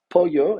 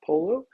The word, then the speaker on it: pollo: this class you will continue to pronounce this word correctly as Pollo and not Polo if you order a